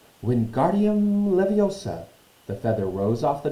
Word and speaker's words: Wingardium Leviosa: "Wingardium Leviosa!" he shouted, waving his arms long like a windmill. "You're saying it wrong," Harry heard Hermione snap. "It's Wingardium Leviosa. Make the guard nice and long."